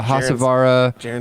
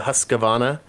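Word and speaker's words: Husqvarna: yikes speaking of roombas i saw uh a hassavarra lawn cutter roomba this weekend it was awesome ooh the husqvana yeah that's how you say it i saw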